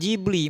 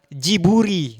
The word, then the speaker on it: Ghibli: Jadi pembacanya itu bukan Ghibli melainkan Jiburi. Nah, kan kalau Jepang Jiburi.